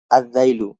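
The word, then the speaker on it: الذيل: আদ-যাইলু, এখানে আল উচ্চারণ না হয়ে কি এই জালটি সরাসরি উচ্চারণ হয়েছে।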